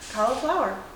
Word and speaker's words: Cauliflour: Next thing, tomorrow we're doing a giveaway with Cauliflour Foods and Alterna Sweets. And Cauliflour. yeah, cauliflower. Yeah, but it's spelled like Flour, right?